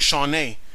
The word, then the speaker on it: Champneys: pronounce your last name since your last name is actually a French origin and thus in French it would be Mark Shawn but I think you're American so I pronounced it in an American fashion which would be Mark champney pardon me if that is not a correct pronunciation at any rate I